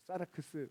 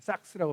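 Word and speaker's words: σάρξ: 헬라어 성경에도 삭스라고 하는데 이제 이게 사라크스, 저는 그런 표현 안 좋아합니다. 이게 일본식 발음입니다. 사라크스 아니고 그냥 삭스라고 발음하는데 죄 짓는 육체를 얘기하고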